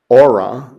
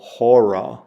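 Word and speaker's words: ὥρα: And again, it has a rough breathing mark over it, which adds an h sound to it. So you wouldn't pronounce this aura. You'd go horror.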